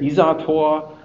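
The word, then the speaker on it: Isartor: So the Isotor test suite, or maybe it's just the pronunciation. In German you would say Isator.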